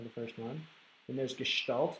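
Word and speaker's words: gestalt: first one then there's gestal that's how you pronounce that gestal it's a French word we talk about in a little bit or a German word sorry but we'll talk about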